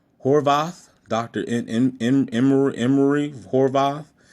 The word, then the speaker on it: Horvath: um I guess Emory uh Horvath Horvath I think that's how you pronounce it Horvath doctor in in Emery